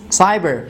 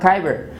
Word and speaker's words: cyber: do you think cyber this is cyber it's not kyber it's a cyber why because after c we have the letter y and we say it is a soft c so we have exactly